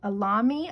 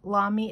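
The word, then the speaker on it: Lamy: have another one uh Alami I think that's what it's called Lami it's spelled l-a-m-y of course I'm brand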